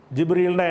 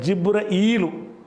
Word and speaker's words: ஜிப்ரீலு: ஆனால் ஹதீஸில் பார்த்தீங்கன்னு சொன்னால் 4 விதமாக இந்த பெயரை உச்சரிச்சிருக்கிறாங்க. ரசூல் ஸல்லல்லாஹு அலைஹி வஸல்லம் சொன்னதாக சில இடங்களில் ஜிப்ரீலு, சில இடங்களில் ஜிப்ரஈலு.